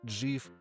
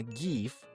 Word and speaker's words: GIF: 16% психопатов произносят гиф как джиф. Джив. Сколько меня пугают? Пугают эти люди не меньше, чем фанаты светлой темы. Но дай бог им всем здоровья, потому что правильно гиф - это не я так решил, а